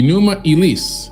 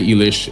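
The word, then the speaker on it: Enuma Elish: like magic to them the enuma eliss which is really the way to pronounce it you could say Elish as well more Americanized right is the Babylonian creation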